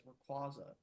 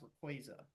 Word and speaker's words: Rayquaza: Rayquaza. There's a debate of how its name is actually supposed to be pronounced because for a long time, I've always pronounced it as Rayquaza, but I Hmm.